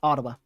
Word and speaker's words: Ottawa: It is Ottawa, isn't it? That's what the pronunciation says. So, that's what I'm going to go with. Ottawa. Locals may pronounce it differently, though.